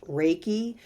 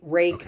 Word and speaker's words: Reiki: don't and it's pronounced raiki and it's re e i k i rake I always tell people like you rake leaves right rake yeah wow very cool